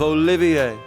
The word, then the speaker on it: Olivier: am the drifting poet and seeker of Love Olivier it wouldn't do for passer by to mistake